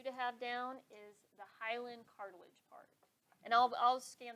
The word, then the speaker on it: hyaline: So when we're talking about the cartilage that's lining those bones in the joints, and that's my pronunciation, it's hyaline cartilage, Hyaline.